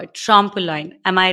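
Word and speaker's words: trompe l'oeil: of times before we started to call it trample line am I right oh that's perfect it's it's so much better than my pronunciation yes that is perfect I was like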